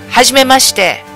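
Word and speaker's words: はじめまして: That's hajimemashite. So it's like saying, Huzz, you made mustard.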